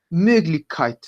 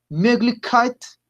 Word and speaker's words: Möglichkeit: Entonces, como les decía, la estrategia es pongan sus labios como si fuesen a pronunciar la O, pero pronuncian la E.